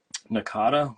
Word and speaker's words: Nahcotta: Oh, Nakata is spelled Nahcotta.